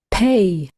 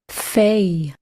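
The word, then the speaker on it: פ: Pay. Pay. P as in map. And without a dagesh, it is fay. Fay. F as in off.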